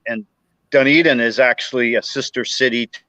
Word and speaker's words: Dunedin: in Clearwater, which is right next door to Dunedin, and Dunedin is actually a sister city to a town in Scotland that's spelled the same way, Dunedin, but we pronounce it Dunedin, and they pronounce it Dunedin.